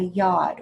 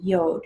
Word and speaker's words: Yod: and that's called a yacht or sometimes people pronounce it yoke so if you hear it pronounced that way then just understand it's the same thing it's spelled y ou